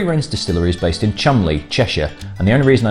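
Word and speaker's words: Cholmondeley: itself the three rings distillery is based in chumley cheshire and the only reason i know how to pronounce that word properly is thanks to the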